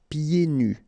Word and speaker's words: pieds nus: So final S here and then final S here is not pronounced. And then when you get this combination here, it's yé, pied. Okay, so you don't hear the D. Pieds nus.